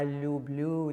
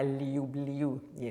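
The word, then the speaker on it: люблю: There's a famous, lovely phrase, "I love you, ya lu blu tibia, ya lu blu," not ya liu bliu, So that's a finer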